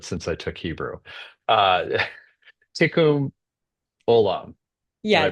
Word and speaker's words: Tikkun Olam: Uh, Tikkun Olam. Did Yeah, I pronounce tikkun that right? olam, you got it. Okay, Tikkun Olam.